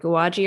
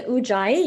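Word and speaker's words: Ujjayi: Uh I'm sure I'm saying it wrong like uaji or something that you do in yoga specifically. What is it called? It's the ujay.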